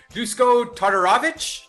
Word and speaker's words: Todorovic: We got Punahale Soriano taking on Dusko Todorovic. Todorovic? Mm-hmm. That's Todorovic.